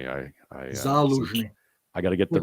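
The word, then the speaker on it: Zaluzhnyi: I always pronounce this wrong. Go ahead. Zaluzhny. Excuse me. Zaluzhny.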